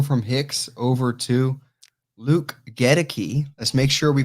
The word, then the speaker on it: Akiem: i've been saying uh godeki it is not kadeki it's gonna be get a key uh is how you say it and i'm glad